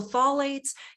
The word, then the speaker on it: phthalates: solates online you're like how do you even pronounce this because it starts with the letters pH p-h-t-h right so phthalates it's a whole class